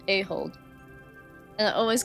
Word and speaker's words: Ahold: Pronounced Ahold.